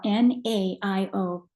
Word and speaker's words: Naio: It's spelled N-A-I-O. Forget about the A, Naio wood.